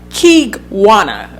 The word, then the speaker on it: Kigwana: And he pronounced it like Kigwana, like to make sure that I said the name right.